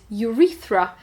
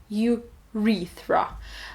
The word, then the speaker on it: urethra: Okay, both words we pronounce with U in front, ureta and urethra. The stress is in both cases on the second syllable, ureta again and urethra.